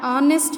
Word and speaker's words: honest: A word beginning with a silent H, like A. Example, an honest man, an hour, an hair, an honorable man, an hires an honorary member, honorary in a sense member.